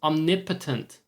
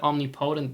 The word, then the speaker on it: omnipotent: speaking of pronunciation um I learned it's omnipotent I've always said omnipotent because that is what makes sense and English doesn't but hey omnipotent omnipotent it's